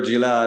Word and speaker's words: Gilad: You're Gilad, and then you're Gil, and then you're So it's okay. The actual name is Gilad, so you said it right.